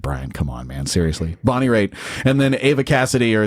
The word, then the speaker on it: Bonnie Raitt: Bonnie Raitt. I think that's right. Raitt. And if you're listening and you're a music snob and you're totally going, God, Brian, come on, man. Seriously. Bonnie Raitt.